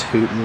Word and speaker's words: Wooten: undergrowth here this is the Wooten plot sometimes pronounced hooton in this area um the other markers